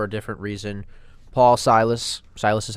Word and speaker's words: Silas: news but for a different reason Paul Silas Silas is how you say his last name right